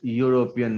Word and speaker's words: European: Year is consonant, that's why we have used a European, e silent, that's pronounced European.